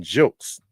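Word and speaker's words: Gilkes: Uh the Reverend Cheryl Townsen Jokes. I looked it up and that's how she pronounces the name. jokes.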